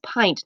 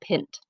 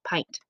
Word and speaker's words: pint: and by the way it's pint not pinned a lot of kids like to say pit it has a long I sound pint so the cup of